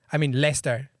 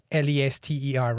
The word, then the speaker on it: Leicester: Leicester. That should be Lester, right?